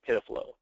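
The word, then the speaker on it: PIDF-LO: mentioned earlier it's p df- l and it's pronounced pflow it's just the uh the the way that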